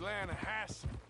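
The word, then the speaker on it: Lannahechee: rolled down to the Lana Hetchy River I caught some beautiful steelhead trout mainland no no no the Lana hacci it runs right near here yeah but it's pronounced Lana Hass why is everything in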